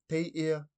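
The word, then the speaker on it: Teiea: In the Cook Islands Māori language, we would say, te ia te arerepo.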